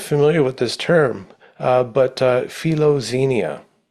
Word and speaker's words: philoxenia: And one of the terms, I wasn't familiar with this term, but philoxenia. Xenia. Xenia. Xenia. It's the X is pronounced KS in Greek. So philoxenia.